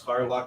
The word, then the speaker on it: Harlock: Haddock, right? Is that how you say it? I bet all, but it's Harlock in English.